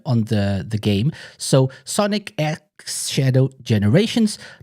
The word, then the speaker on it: Sonic X Shadow Generations: guys' thoughts on on the the game so Sonic X Shadow generations not cross not it's Sonic X Shadow generations that's how to properly pronounce it AR's like what the hell have